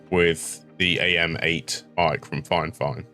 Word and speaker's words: FiFine: the am8 mic from fine fine it's a weird spelling but apparently I have been told it's pronounced fine fine I've listened to the